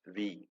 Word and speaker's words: Vi: company with the name they call it as we vi they pronounce it as we after the merger of